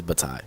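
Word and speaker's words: Bataille: my my believability by not being able to pronounce something I'm reading. That's just that's just crazy. Ah, so it is Batai.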